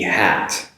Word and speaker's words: hat: hot, compared with H-A-T, hat. Now, for the hot, makes an ah sound, hot, whereas the H-A-T, hat, makes an ah sound, so hat.